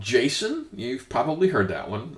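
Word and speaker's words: GSON: uh s o n the J I guess it's still pronounced Jason and so I'm going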